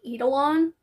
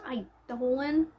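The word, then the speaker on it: Eidolon: books Radiance and idolan I had to look that up because I kept saying edolon I still think it sounds better ealon but it's pronounced idolan I don't know I'm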